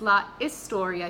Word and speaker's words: la historia: It's la historia. You don't pronounce the H in Spanish, it's silent.